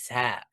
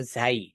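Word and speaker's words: زاي: হচ্ছে ঝা কি সেটা অতএব ঝাকে আমরা কখনো ঝা বলবো না। ঝাকে আমরা যখন তার নামটা বলব তখন আমরা বলব ঝাই। কি বলব? বলব। ঠিক আছে? যখন এই হারফটার নাম যখন বলব তখন হচ্ছে ঝাই।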